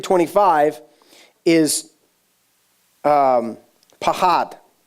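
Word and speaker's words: פחד: 3 25 is um pahad it's p-a-c-h-a-d but it's pronounced a little bit pahad because I listen to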